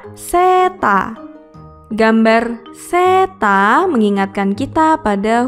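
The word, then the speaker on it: セーター: Berikutnya adalah gambar baju hangat atau sweater yang dalam pelafalan bahasa Jepang adalah seta.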